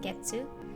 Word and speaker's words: 月: word for you mande the first kanji is pronounced getsu and the counter as a whole is pronounced